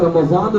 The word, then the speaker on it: Ramazan: इसकी प्रोनाउंसिएशन जो है वो स्वाद के साथ है, रमजान मुबारक।